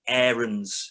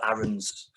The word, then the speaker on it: Aarons: yorkshire sport as well the uh rolando aarons that is how you pronounce his name uh ogie and mclennan not rolando aarons it's rolando aarons um really annoying mess